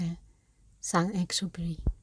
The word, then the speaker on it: Saint-Exupéry: about um antoan de s expi whatever it's how would you pronounce it you're half French s well I'm not an expert but yeah it's just s EX superi he sound super pretty well thank you